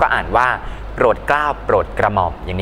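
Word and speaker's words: โปรดเกล้าฯ: ไป ยันต น้อย นะ ครับ ก็ อ่าน ว่า โปรดเกล้า โปรด กระหม่อม อย่าง นี้ เป็น ต้น นะ ครับ เครื่อง หมาย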